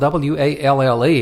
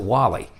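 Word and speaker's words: Walle: It's spelled W-A-L-L-E, and we just looked at that and thought it was Wall. But we have since discovered it's just changed the E to a Y, and he pronounces it Wally.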